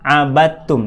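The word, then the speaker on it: عَبَدْتُمْ: Ana abidu MMA abadtum ditulisnya Abay the thumb dibacanya abattum di sini kita menemukan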